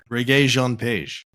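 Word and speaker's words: Regé-Jean Page: the Gray Man, and I figured out how to say his name. Reggae Jean Page.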